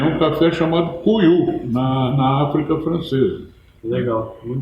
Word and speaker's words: Couilou: Ele veio da África colonial francesa com o nome de Cuiu, que se escreve Couilou, com 2 L's, se escreve C-O-U-I-L-L-O-U, e se lê Cuiu.